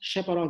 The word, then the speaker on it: chaperone: उन folding machinery को शेपरॉन बोलते हैं, CHAPERONES, उसको प्रोनाउंस शेपरॉन से करते हैं.